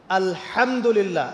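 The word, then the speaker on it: الحمد لله: আলহামদুলিল্লাহ।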